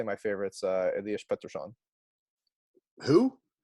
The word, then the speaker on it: Pettersson: And then today, I'd say my favorite's Elias Pettersson. Who? Pedersen, but Oh, I was on exchange, and the Swedish all right.